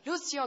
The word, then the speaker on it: Lucio: I've forgotten his name Lucio he says I'm must say it like that Lucio car um from Brazil are